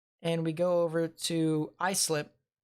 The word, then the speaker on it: Islip: uh new york how will they fare or islip i'm sorry what about islip thank you for actually doing the pronunciation at the end because now i actually